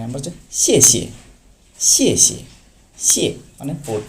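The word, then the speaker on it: 谢谢: ওকে, 9 নম্বর হচ্ছে শিয়ে শিয়ে। শিয়ে শিয়ে। শিয়ে মানে fourth tone, আর পরের শিয়াতে কোনো টোন নেই, এটা নিউট্রাল। সো আপনি শিয়ে শিয়ে, প্রথমটাতে শিয়ে একটু জোর দিয়ে বলবে শিয়ে শিয়ে মানে থ্যাংকস।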